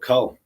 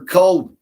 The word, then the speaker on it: Kull: How much for Cull, babe? Spell it for me, please. It's K-U-L. Like skull without the S.